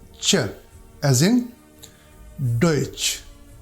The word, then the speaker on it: Deutsch: This combination is pronounced like Ch, as in Deutsch, Deutsch.